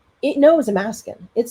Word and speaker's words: Amaskan: Because Amaskan rhymes with Alaskan, Yeah. like being from Alaska, it knows Amaskan.